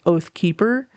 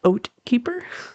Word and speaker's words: Oat Keeper: rather say Oat because I will 100% read your name as Oathkeeper, forgetting that it's Oat Keeper.